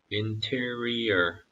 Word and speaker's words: interior: 한국말로 인테리어라고 하는데요. 영어로 읽으실 때는 꼭 interior 이렇게 발음하시길 바랍니다. interior Build a large boat from cypress wood and waterproof it with tar inside and out.